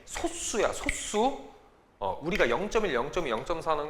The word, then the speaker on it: 소수: 이거 선생님들이 발음을 잘못하시는데 소수가 아니야. 정확한 발음이 소수야.